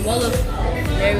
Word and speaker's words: Wolof: Try to say Olaf. They say Olaf. Yeah, they do say Olaf. Yeah. I thought it was Wolof. Yeah, I've heard people say both Wolof and Olaf.